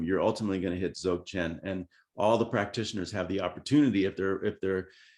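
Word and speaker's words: Dzogchen: Zogchen. It starts with a D, but the D is silent.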